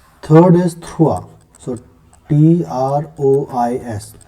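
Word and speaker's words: trois: We write it like this and we pronounce it the, right? Third is thrua, so T-R-O-I-S, thrua.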